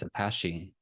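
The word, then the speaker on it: Apashe: I think it's Apache, like the helicopter.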